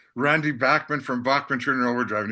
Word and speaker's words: Bachman: I've heard it's pronounced a few different ways, but Randy Bachman from Bachman Turner Overdrive, I've heard you say before.